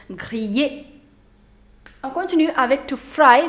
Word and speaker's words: griller: To grill, that's griller, griller. Again, you have I-double-L, so you do not pronounce double L, griller.